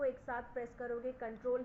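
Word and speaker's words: Ctrl: इज कंट्रोल प् सी सीटी आर एल का फुल फॉर्म उसको हम प्रोनाउंस करते हैं कंट्रोल कोई भी सीटीआर एल नहीं बोलेगा इट इज कॉल्ड एस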